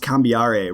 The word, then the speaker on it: Cambiare: I believe it's pronounced cambiare, right? Is how that's the first book in your series? Yes. Awesome. It's a musical notation. That's why it's pronounced that way.